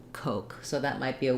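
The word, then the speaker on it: Koch: syllable stress and then this name coke looks kind of weird kind of strange spelling it's the o vowel the o diphthong and the both the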